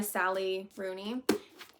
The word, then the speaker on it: Sally Rooney: Like I think it's by Sally Rooney.